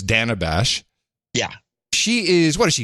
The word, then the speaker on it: Dana Bash: First, we learned how to pronounce her name. It's Dana Bash.